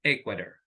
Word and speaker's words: Ecuador: have Germany Mexican and Ecuador so the stress is on the first syllable s um like very fast Germany Mexican Ecuador so that is the correct way to be pronounced now be that can